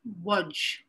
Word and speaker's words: Łódź: I'm going to be featuring some music by the composer David Begelman from the Lodz Ghetto, more accurately pronounced in Polish as Łódź.